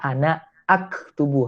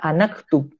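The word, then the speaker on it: أنا أكتب: aktubu itu dibacanya adalah ana aktubu. Hamzahnya tetap dibaca. Jadi salah bila kita baca ana aktubu itu menjadi anaktub. Salah itu. Karena hamzah di situ berstatus qat'i.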